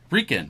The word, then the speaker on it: Rican: Rican, like Puerto Rican.